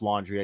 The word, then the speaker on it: Laundrie: And I know it's pronounced laundry. I just like to say Laundrie because fuck them.